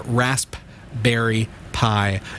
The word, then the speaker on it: Raspberry Pi: raspberry pi dot org don't forget the silent P in there rasp berry pie dot org and as P I like the number not I like the edible and you can download